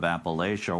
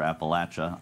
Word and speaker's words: Appalachia: hampshire whether you're in that part of appalachia or appalachia either either pronunciation accepted you will find people